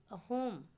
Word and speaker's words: असम: यहाँ के निवासी इसका उच्चारण अहोम ही करते हैं।